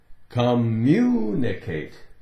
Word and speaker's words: communicate: the pronunciation the word communicate communicate communicate communicate now it's got the short IE it sounds like communicate it's going to come out sounding like communicate communicate double M so we're not going